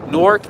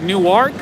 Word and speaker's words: Newark: i don't blame you when i when i came here i was like newark and they were like what no it's newark and then new york